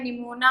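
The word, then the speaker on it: pneumonia: Pseudo का P silent होता है, निमोनिया में भी पी साइलेंट होता है, तो आपको कंफ्यूज नहीं होना है कि ये क्या बोल दिया।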